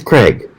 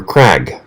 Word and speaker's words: Crag: overlooked it it's the craig from cjrb yes the craig or crag depending on where you live and how you want to pronounce it it's a neat little